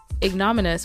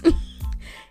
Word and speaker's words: ignominious: um un clear and didn't look it up nominus which I think I'm pronouncing correctly ignominious ignominious ignominious ignominious ignominious so I now know the